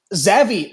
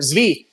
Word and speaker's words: Zvi: So it's like Zevi Zvi, I keep mispronouncing, but Zvi, he would actually be super audacious and go out of his way to piss off the Jewish religious leaders.